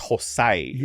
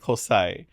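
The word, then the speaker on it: José: I heard Jose pronounced hosai right cuz I spell it h z y the joke is it's Jose but in English Jose right but they said hosai and I'm like oh I like hosai so you Jos and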